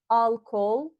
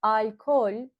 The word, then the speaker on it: alkol: It is not alcohol, but alkol.